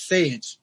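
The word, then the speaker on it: SÄJE: pronounce this correctly it's sage correct yeah it kind of rhymes with beige okay and your and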